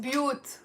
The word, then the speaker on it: بيوت: the plural of bayt, and it's one syllable. Say with me with one clap. بيوت بيوت بيوت. It's not بيوت, it's بيوت. Okay, so Lebanese people put a lot of sukun on the first letter.